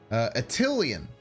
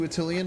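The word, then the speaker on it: Attilan: I do add an A into Attilian. It is, I believe, pronounced Attilian, but I say Attilian. And then someone told me that I was wrong, so then I stubbornly have been calling it the wrong thing ever since. Attilian.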